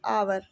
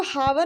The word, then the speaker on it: hour: तो इसको हम हिंदी में कैसे पढ़ेंगे? आवर, ऐसे पढ़ेंगे। ठीक है, इसको हावर नहीं पढ़ते हैं।